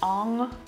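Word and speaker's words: Ingres: Like it's not, there's that French painter Ong, which is spelled I-N-G-R-E-S.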